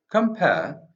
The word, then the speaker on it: compare: the word compare is placing the stress on the second syllable making it heightened so come first level